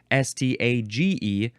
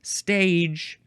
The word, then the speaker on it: stage: S T A G E. Looks like the word stage, but it's stage.